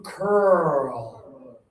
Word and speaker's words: curl: That verb, that sport is to curl. Yeah, let's show that one really carefully. Your lips. They have to go forward and open.